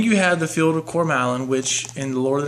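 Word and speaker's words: Cormallen: the silmarillion and everything every name that tolkien uh has configured that begins with a c has the k sound um because i remember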